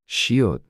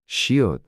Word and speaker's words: 시옷: To pronounce this sound, place the tip of your tongue behind your upper teeth and push air out through your mouth, making a sound similar to S.